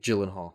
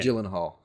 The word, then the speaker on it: Gyllenhaal: And and then of course with Jake Jake uh whose last name, Come on, pronounce his last name for me. Gyllenhaal. Say it. Say it again. Gyllenhaal.